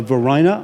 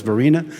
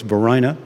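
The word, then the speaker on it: Varina: to hear of it uh his wife uh Verina I'm told is the right pronunciation I had thought it was Vina but I just learned an hour ago it's Verina um who loved him and was very supportive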